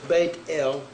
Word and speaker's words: Bethel: yahweh word bethel or they got bethel it's bait el means the house of l the number there